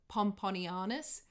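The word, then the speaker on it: Pomponianus: struggled to say and i've actually written it out phonetically pomponianis um it's spelt pompon eye anus they reached land and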